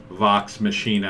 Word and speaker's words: Vox Machina: of vox machida yes i know how to pronounce it vox machina i like to call it um and we're